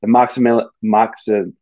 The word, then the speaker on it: Momcilovic: And Momcilovic, that's how I actually pronounce it. I need to stop mispronouncing his name.